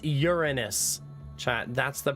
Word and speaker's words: Uranus: It's Uranus, chat. That's the pronunciation.